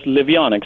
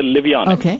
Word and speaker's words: Livionex: you pronounce the name of it uh we pronounce it as liionic kind of like heronian Harry Potter we say liionic the play on living metal ions and X